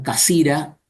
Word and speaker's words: Cassirer: Por un lado, el filósofo Ernst Cassirer, los alemanes lo pronuncian Casira, y el famoso Martin Heidegger.